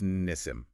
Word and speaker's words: Nissim: And just quickly pronunciation, the creator's name, Leat. Ah, good point. It's Leat. Leat and her father, Nissim. That's Nissim. Lead and Nissim.